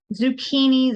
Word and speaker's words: zucchini: up here is a zucchini it's another squash only it's sort of an italian-ish word you could think of it zucchini z-u-c-c-h-i-n-i the CH is pronounced as a bit of a k so zucchini and those